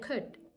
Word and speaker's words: could: w should and could the L is silent we say would should and could just with would and